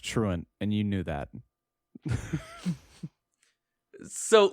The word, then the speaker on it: Truant: eat the out of it's pronounced truant and you knew that so yes that's the